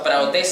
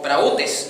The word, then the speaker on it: praotes: para los que anotan, así como lo escucha, praotes sin H, praotes, o prautes, dice otra.